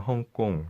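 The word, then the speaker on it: 香港: 광동어로 읽으면 헝꽁 정도로 발음되는데 이를 영어로 옮긴 이름이 홍콩이다.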